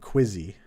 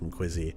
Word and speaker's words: KWZ: Like, every time I go out to get some ice cream, pronounce KWZ like Quizzy.